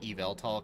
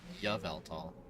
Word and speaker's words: Yveltal: I like to pronounce it Eveltal because Y sounds a lot like an E most of the time, like it's a wannabe vowel. But apparently some people say Yaveltal.